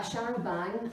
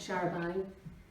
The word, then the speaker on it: charabanc: So a showerbank, I've been told, is how it's pronounced according to Google. A showerbank, originally horse-drawn, and the name comes from a corruption of the French Showerbank.